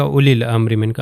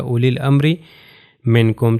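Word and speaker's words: أولي: اولیل۔ آپ یہ دیکھیے واو کے اوپر ایک چھوٹا سرکل ہے، اگر میں اس کو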